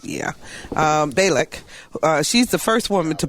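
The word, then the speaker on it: Bialek: Balak.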